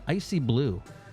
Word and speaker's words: ICYBLU: Icy Blue. That's spelled ICYBLU. Icy Blue.